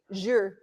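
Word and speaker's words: zhi: Yuan is your Z-H-I, because it sounds just like it's spelled. Z-H-I, Zhur.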